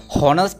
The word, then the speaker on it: honest: honest man නෙමෙයි honest man කියලා.